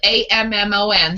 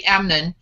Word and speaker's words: Ammon: wrong but it's spelled a-m-m-o-n so i'm going to say amnon john says yes we assume that being okay that's ammon ammon we assume that because